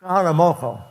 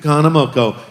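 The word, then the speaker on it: Kahanamoku: The Duke Kamana, how do you pronounce his name? Duke Hanamoko. Duke Hanamoko.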